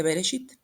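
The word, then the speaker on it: Bereshit: o el nacimiento pero este nombre en hebreo se dice beresit si nosotros escribimos como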